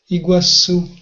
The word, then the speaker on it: Iguaçu: What's the pronunciation again? Iguaçu.